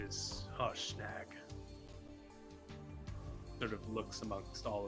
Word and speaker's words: Harshnag: How do you pronounce his name? It's Harshnag.